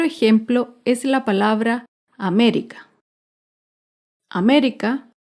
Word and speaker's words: América: América se acentúa en la antepenúltima sílaba.